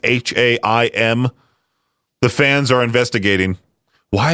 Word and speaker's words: Haim: There's a band called Haim. I believe that's how you say it. It's like ham with an I in it, Haim.